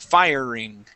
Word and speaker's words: firing: okay almost almost okay we want to make sure that our tongue is not hitting the top of our mouth fireing firing firing okay very close